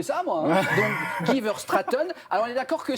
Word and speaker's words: Verstraeten: Alors, votre vrai nom, c'est Guy Verstraeten. C'est pas Verstraeten, mais c'est gentil d'essayer de le prononcer comme Ça se ça. prononce comment? C'est Guy Verstraeten.